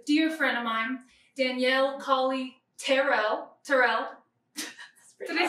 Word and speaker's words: Tyrrell: Today, my guest is a dear friend of mine, Danielle Kali-Tyrrell. Did I say it right? It's pretty close, Tyrrell. Tyrrell, okay, there you go.